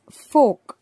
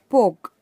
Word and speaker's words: fork: read as poor and this is folk not poke if you read it as poke that will become a hindi and folk is like